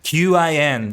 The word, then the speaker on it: Qin: You know, Qin, the Q-I-N, the Chinese name is actually pronounced Qin, I think.